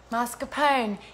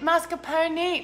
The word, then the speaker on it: mascarpone: Do I just say pone? How can you even tell me writing? We can't even discuss this. God. Yes, the E is pronounced. Thank you, Joseph. Cool. Nice. Okay, no E. Oh, Teresa is disagreeing with you, Joseph. Mascarpone with extra R.